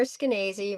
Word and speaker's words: Skenazy: So me, I'm Lenore Skenazy, rhymes with crazy.